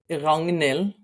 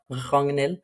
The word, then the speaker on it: Ragnhild: So in Norwegian, you would pronounce it Ragnhild in Okay. the region where I come from. So with a soft R, Ragnhild.